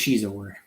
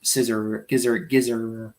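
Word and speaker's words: Xizor: But Prince Shizor, which as a kid, I never knew how to pronounce his name. I always thought it was Scissor.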